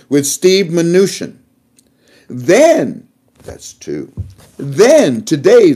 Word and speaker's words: Mnuchin: Washington, D.C., the United States Treasury with Steve Mnuchin. I said it right. With Steve Mnuchin.